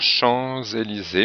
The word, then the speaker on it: Champs-Élysées: Mes parents vont déjeuner dans le quartier des ici, on fait la liaison obligatoire Chamélysée mais le S finalé.